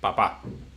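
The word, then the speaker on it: papá: You say papa, we say papa, which is informal. It's the same. It's exactly the same word. Just the inonation. It's in the other syllable.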